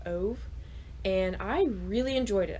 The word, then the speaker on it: Ove: Basically, it's about this old man called Ove. Actually, I believe he's from Sweden or Switzerland. I can never remember. I always get those mixed up. And his name is pronounced Uwe in the native language.